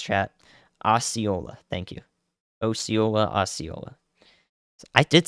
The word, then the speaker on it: Osceola: Osceola, Osceola.